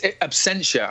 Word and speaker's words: Absentia: It's Absentia, and I only learned how to say it after the first season, Ed.